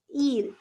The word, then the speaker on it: ils: after who it's okay we don't pronounce the last letter that is e you can see it's i l s right so we don't pronounce the last letter we will just call it eel okay just like in